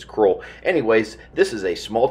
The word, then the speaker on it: Crowell: out to the field crawl texas or as it's spelled crowd texas that's how i heard everyone pronounce it out here was cruel anyways this is a